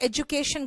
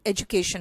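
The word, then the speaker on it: education: एजुकेशन होता है बेटा, जहां पर भी डी बीच में ऐसे आता है ना, वहां पे जैसे एजुकेशन कहते हैं, एजुकेशन भी बोल देते हैं, लेकिन इसका सही प्रोनाउंसिएशन एजुकेशन होता है, ठीक है।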